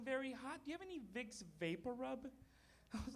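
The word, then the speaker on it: Vicks VapoRub: I moved here to realize the big Papa Roo it's actually pronounced vicks vapor rub do you have any idea how many CVS's I went to ask him for Vic Viper oh you will never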